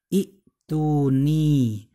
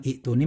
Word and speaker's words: اءتوني: ke ta sehingga menjadi i'tuni. Nah, setelah dari i'tuni kan terbacanya bukan i'tuni melainkan ituni.